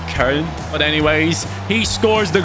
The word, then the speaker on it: Köln: Lempele scores, the Cologne striker. That's how you say it in English. It's Köln.